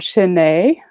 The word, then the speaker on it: Chesnais: So yes, my name is Chesnais. Actually, in French, the S is silent.